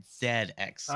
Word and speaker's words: ZX Spectrum: Okay, that is a British computer, so you pronounce it ZX Spectrum.